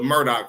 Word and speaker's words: Murdaugh: I seen the spelling thought I was pronouncing this wrong too but it's actually the Murdoch family but not be not